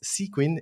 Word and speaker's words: Sequin: me it was hard to understand how to pronounce it but yeah he explained to me is sequen and uh yeah let us know uh what's